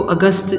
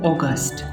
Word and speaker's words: August: अक्सर इसको अगस्त उर्दू में तो हम कहते हैं, लेकिन इसको इंग्लिश में हम बोलते हैं ऑगस्ट। That is the right pronunciation.